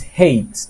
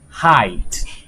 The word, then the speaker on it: height: yesterday I said right when we see this word we may think is hate but it's not hate because when we pronounce